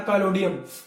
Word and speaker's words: पैलेडियम: चलिए दूसरा कौन सा है, दूसरा आपका है पैलोडियम, है ना, पैलोडियम। पैलोडियम हो सकता है मैं मिसप्रोनाउंस कर रहा हूं, पैलेडियम भी बोलते हैं इसको, पैलेडियम और प्लेटिनम पीपी पे है, दोनों के दोनों आपको याद रखना भैया।